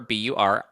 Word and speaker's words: Bure: Yeah, it's pronounced Bur B U R R A Y.